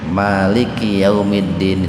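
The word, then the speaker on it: مالك يوم الدين: Kalau dibacanya itu panjang mimnya Maliki Yaumiddin, itu menunjukkan bahwa Allah itu sang maharaja gitu. Kalau mimnya dibaca pendek Maliki Yaumiddin, cuman jarang di kita yang membaca pendek Pak.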